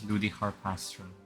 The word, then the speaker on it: Ludi Harpastum: the next Ludi harpastum I always pronounce this Ludy harpastum Ludy harpastum not Ludi but like Ludy Miss honorary Knight you've